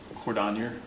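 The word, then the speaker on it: Cordonnier: wait till she gets back it's it's Cordon spell it for me c o r d o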